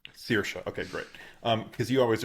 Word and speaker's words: Saoirse: Saoirse, yeah. Sear like searing pain. Saoirse, okay, great.